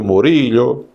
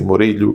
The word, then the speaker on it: Murillo: Essa senhora, a senhora Rosário Murillo, ou Rosário Muricho, ou Rosário Murillo, cada lugar aqui da América do Sul ou da América Central, o castelhano vai ser pronunciado de uma maneira diferente. Mas tá lá, vamos assumir. É a senhora, inspiração da Janja, Rosário Murillo. Vou ler assim, Murillo, que fica no espanhol, de Espanha.